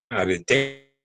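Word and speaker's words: ἀρετή: Era una persona fea porque recuerden que para los griegos la aspiración máxima, que se llamaba arete como arete, pero con acento en la última, arete, la actitud, ¿no?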